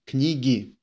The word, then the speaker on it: книги: Книги. Книги. Книги. And again, the emphasis falls on e, but now we got a plural.